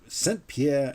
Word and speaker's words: Saint-Pierre: one this is from another french person called saint pierre senpier and michelong now this and now you notice